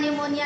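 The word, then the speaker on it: pneumonia: तैयार किया है पुणे स्टेशन में तो अलार्म निमोनिया के लिए तो पीस है यहां साइलेंट है को निमोनिया ऐसी लाइक थिस है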